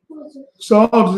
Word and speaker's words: Psalms: Psalms is spelled, Salaki, Psalms is spelled with the letter P first. The P is silent.